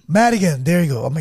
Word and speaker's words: Madigan: have what's your last name again Madigan Madigan there you go oh my God I'm gonna have to spell that and we have Josh Rael big round